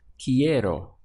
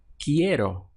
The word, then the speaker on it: quiero: want in Spanish is quiero so we have qu I 4 key and then arrow key arrow in English we have